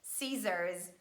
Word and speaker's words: scissors: is impossible that's why we just omit letter c and we pronounce only letter s as the sound si and we say scissors science scene scenario descent